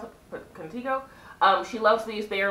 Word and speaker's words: Contigo: Next way you pronounce it, Contigo.